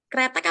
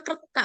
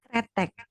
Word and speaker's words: Kretek: kemudian alamatnya di Tegalsari Kretek Apa kretak bacanya Kak kretek kretek Bantul jug Jakarta eh